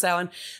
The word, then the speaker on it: Samhain: As Christians slowly started to take over pagan holidays in the year about 600-ish, the Samhain, or Samhain, it's again spelled Samhain, pronounced Samhain.